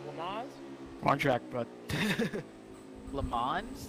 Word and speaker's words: Le Mans: Le Mans? That was the most American pronunciation. Oh, Le Mans.